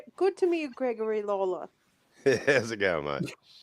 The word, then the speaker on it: Lawler: to meet you gregory lawler yeah vivian you can pronounce that lawler because that's how we do it oh yeah yeah